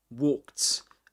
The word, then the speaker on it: walked: The ed is pronounced as t walked and in American English is worked again.